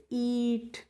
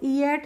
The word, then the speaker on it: eat: हम पढ़ते हैं फ्रेंड्स ईट। यहाँ पे जो EA होता है उसका प्रोनाउंसिएशन होता है ई, ठीक है, तो इसको ईएट नहीं पढ़ते हैं, ईट पढ़ते हैं, और ईट का मतलब क्या होता है, खाना होता है।